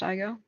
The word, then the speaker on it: Igo: It's pronounced Igo.